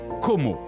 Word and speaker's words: Como: l'enchanteur lac de Como, que l'on prononce Como, en italien et anglais.